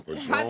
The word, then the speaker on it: Padron: I'm just saying, Patron. That's just a, love, it's just Patron. Like Pastrami for me. Patron. Like Patron. And I Patron.